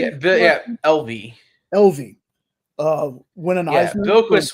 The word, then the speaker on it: Evely: Yeah, LV.